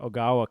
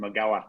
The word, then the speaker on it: Ogawa: uh how did kajiro ogawa come on your radar great pronunciation i would have just called him agawa so yeah we were